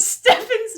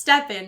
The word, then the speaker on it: Stefan: But Stefan's name is pronounced Stefan, not Stefan.